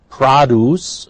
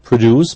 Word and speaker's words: produce: Produce. Notice it's a noun, therefore not produce, but produce. Get used to that.